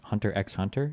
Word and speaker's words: Hunter X Hunter: Hunter X Hunter. Yes. Always say the X. It's the most important part.